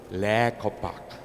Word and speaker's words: Les Copaque: i pulled the last card we always said last copy so they mean the last chance you're hoping that you can read it but because we want to go international so i decided to spell it in french so when you go to kansas they always say la kopak but in french of